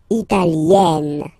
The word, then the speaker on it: italienne: Remember, when you get this R, followed by a double consonant like here, then you will have to open it. E, italienne, italienne.